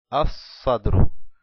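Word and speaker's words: الصدر: Decimos Sodrun más el artículo Alef Lam es igual a As-Sadru, As-Sadr. No pronunciamos el Lam, como ya pueden ver, As-Sadru.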